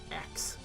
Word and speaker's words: axe: with an Ask axe axe the E is silent but you got to be careful not to pronounce the access an S um not that bad